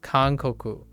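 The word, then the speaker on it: 韓国: Although this is pronounced kankoku. Kankoku for Japanese. But that's Hangguo.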